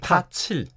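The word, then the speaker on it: 破七: 그러자 이제 7위안위로 뚫고 올라가 버렸기 때문에 이거를 뭐 포치. 나름 충격적이라고 지금 많이 받아들이고 있어서 이게 화제가 되고 있습니다. 앞에 포라는 거는 중국어로 포인데 한국말로 하면 파자잖아요. 이게 예, 파칠. 예, 파칠이죠. 한국 발음은.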